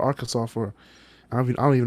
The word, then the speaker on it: Arkansas: to make sure that it's not pronounced AR Kansas which it should be and make a law saying that it's illegal to pronounce it R Kansas because people are people